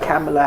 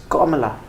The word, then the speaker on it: Kamala: In her own words, the influencers there are doing reels on how to pronounce her name. Kamala. It's not some. So I saw one lady do. It's not Kamala Harris. It's Kamala.